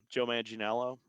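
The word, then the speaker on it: Joe Manganiello: But when we get to the third one, Joe Maninelo, I think is how you say his name.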